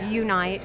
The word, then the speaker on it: YouNight: My event's called Unite, which is spelled YOUNIGHT, but it's Unite to unite a community.